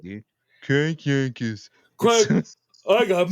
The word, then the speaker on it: Crank Yankers: it's not you gota say it right dude Crank Yankers I got M I got M that's a